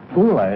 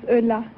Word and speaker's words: Eula: like to very much hula is that right is that how you pronounce it no my name is eula french have a boyfriend